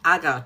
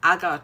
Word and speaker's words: agar: But actually, how many of you know that oud actually comes from the agar tree.